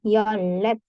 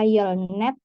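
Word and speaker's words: 열넷: 3 nah angka 14 Yol ditambah net jadi yolet di sini yaabun tidak dibaca Yol net Kenapa Pekan lalu kita sudah belajar ini ya R sama n dua-duanya dibaca R berarti bacanya yolet yolet itu 14 angka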